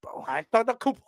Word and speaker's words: Antetokounmpo: How do I pronounce? Hold on. Antetokounmpo, right? Am I almost? Antetokounmpo.